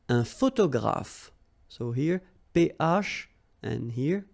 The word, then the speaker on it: photographe: Un photographe. So here, PH, and here, PH, pronounce it like F, f, f, f.